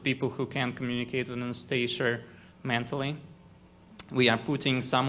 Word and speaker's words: Anastasia: Anastasia? In Russian, it is pronounced with the stress on Ia. Anastasia.